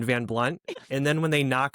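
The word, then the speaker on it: Van Blundht: great comment about the H is silent in Van Blunt.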